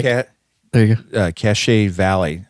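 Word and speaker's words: Cache Valley: there you go uh cachet Valley I think that's how you say it oh it's okay c-a-c-h-e cachet Valley there's a lake with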